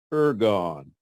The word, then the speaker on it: ergon: how it used in the Greek New Testament pronounced ergon you on galleon you on Galleon good news